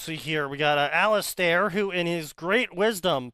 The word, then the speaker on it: Alistair: Alistair. Yeah. Spell it. Yeah. Alistair. Alistair. Alistair. Spelled stare with stair in them. You know, stairs like the ones you walk on.